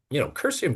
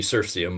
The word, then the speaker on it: Cirsium: It should be Cirsium, but I called it Cursium, and it's kind of like stuck.